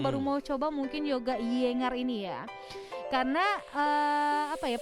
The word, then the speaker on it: Iyengar: ih ingat mbak-mbak yinger ingat iyengar sebenernya bacanya kayak gini kayak iyengar ini salah satu jenis yoga